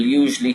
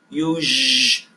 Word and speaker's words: usually: That word is pronounced usually. I'll put my fingers up. It's usually. There's 4 very clear syllables.